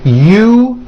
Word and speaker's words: usual: Break it up into 3 syllables. U-ju-o. That second syllable, ju, the one with the underline, needs to be voiced. Put your hand on your throat and feel for the vibration in the second syllable. U-ju-o.